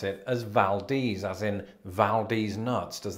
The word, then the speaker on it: Valdez: I'm speaking, of course, of Valdez, Alaska. At least that's how I used to pronounce it before I heard it.